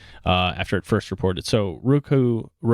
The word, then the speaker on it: Roku: So Roku, people pronounce it differently. I pronounce it Roku, reported a narrower than expected Q4 loss of 13 cents per share.